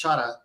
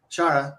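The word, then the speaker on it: xará: there and uh it's it's x-a-r-a I can't quite pronounce it right it's Shada Shara shout out something like that and it means someone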